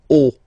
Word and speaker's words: haut: Okay, final T not pronounced, and then this H as previously, you don't pronounce it, so this is haut.